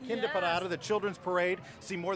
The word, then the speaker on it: Kinderparade: The Kinderparade, that's how you pronounce that. Kinderparade, the children's parade.